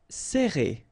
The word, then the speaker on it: serrer: Alright, so interesting here because you get this E and then double R after that. So it will open the sound of E, okay? So you will pronounce it like E.